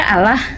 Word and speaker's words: Allah: Dalam bahasa Indonesia itu dibaca Allah.